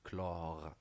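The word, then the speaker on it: chlore: هنا تاني غتقول لي راه كاين سي وتابعها اش مينيسكول، ولكن الا لاحظتي معايا كنقول كلور ما كنطقش ديك اش، داكشي علاش ما غاديش نعتبر اش كهو كحرف تاني، وانما غناخد ال.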